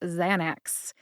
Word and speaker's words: Xanax: We don't cover pharmacology here, we just stick to the pronunciations. The generic name is Alprazolam, and the brand name is ZAN-aks.